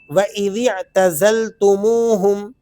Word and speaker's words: وَإِذِ اعْتَزَلْتُمُوهُمْ: سے بھی پڑھیں گے۔ واو زبر وا، حمزہ زیر ای، ذال عین زیر ذیع، الف کو بیچ میں